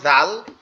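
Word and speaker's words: ذ: এই জালটা উচ্চারণ হবে আবার ওই উপরের দুই দাঁতের আগার সাথে। অর্থাৎ দাল হচ্ছে গোড়ার সাথে। আর জাল হচ্ছে আগার সাথে। দাল হচ্ছে গোড়ার সাথে আর দাল হচ্ছে আগার সাথে দাল জাল দাল জাল জাল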